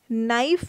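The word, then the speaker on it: knife: silent है है ना नाइफ में के साइलेंट है इसमें के साइलेंट है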